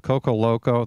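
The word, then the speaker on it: Koko Loco: It's not Coco, and he was loco for naming it that. But it's spelled K-O-K-O, and a rose that'll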